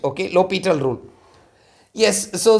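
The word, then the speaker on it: L'Hôpital: Lital sorry not liital. Lital rule you can say like that this is silent. Okay. Lital rule.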